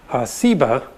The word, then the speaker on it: Seba: scholars think is related that has just a different s sound seba and augie explains that